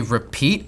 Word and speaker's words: RPT: I don't know if it's supposed to be repeat, I assume it, but I've been pronouncing it arpit, like carpet.